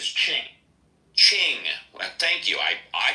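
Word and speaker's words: Qing: Hello, Quing, if I'm pronouncing that right. Quing. Quing. Q-I-N-G. Q-I-N-G once. Oh, there he goes. It's pronounced as Ching.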